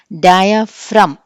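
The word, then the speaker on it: diaphragm: Sixth rule, the letter G is silent when it is used before the letters M and N. M గాని N కానీ ముందు G కనిపిస్తే ఈ G అనేది మనం పలకం. This is డయాఫ్రమ్. G అనేది వినిపించలా, డయాఫ్రమ్ అనేసాం ఇక్కడ.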